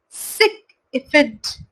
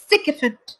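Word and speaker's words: sycophant: Second word, उसका pronunciation होगा सिक इफेंट। सिक इफेंट। देखिए इसमें SIK को कैप्स लॉक में लिखा हुआ है। इसका मतलब ये हुआ कि हम अपना वर्ड प्रोनाउंस करते वक्त उस चीज पर ज्यादा प्रभाव डालेंगे, उस चीज पर ज्यादा जोर देंगे।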